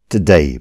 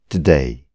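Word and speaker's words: today: एक सुन्दर दिन हो टुडे भनेको आज यो शब्दलाई भन्नुहोस् त एकचोटि टुडे यसलाई यदि तपाईँले टुडे भन्नुभयो भने गलत उच्चारण हुनेछ यसलाई भन्नुहोस् टुडे टु होइन ट अनि डे होइन डे टुमोरो यो शब्दलाई पनि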